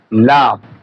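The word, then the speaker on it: لام: এই হরফের নাম হচ্ছে লাম হরফের নাম লাম দেখেন লা দেখেন জিববার আগার কিনারা সামনের উপরের দাতের ঘোড়ার সঙ্গে লাগা সামনের উপরের দাতের ঘোড়ার সঙ্গে লাগায়ে হরফ উচ্চারণ করতে হবে দেখেন এরপরে দেখেন এ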